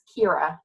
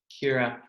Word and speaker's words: Ciara: It's Ciara, like K-I-R-A. Ciara.